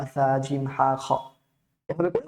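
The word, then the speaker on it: ح: দেখতে পাচ্ছেন ওকে তারপর হা উচ্চারণ করার সময় বলেছিলাম কন্ঠনালীর মাঝখান থেকে উচ্চারণ করতে হবে বাতাসটাকে কণ্ঠটাকে উজার করে দিয়ে উচ্চারণ করতে হবে হা তারপর হ উচ্চারণ করার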